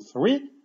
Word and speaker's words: three: Ale w naszym słówku three jest bezdźwięcznie. Koniuszek języka, między zęby, dmuchamy. F, f. Three, three.